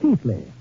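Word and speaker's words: Keighley: town of Chiles were pronounced in England Keithley although how they made Keithley out of k-e-i-g-h-l-e-y I'll never know but that is my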